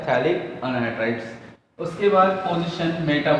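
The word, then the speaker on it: phthalic: Actually इसका pronunciation पैथेलिक नहीं है, थैलिक एसिड उसका प्रोनाउंसिएशन लिया जाता है, इसके थैलिक।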